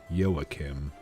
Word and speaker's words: Joachim: I did a Google Translate, and apparently the name is of German descent, and they pronounce it like Y-O, Yo, A, and then Kim. Joachim.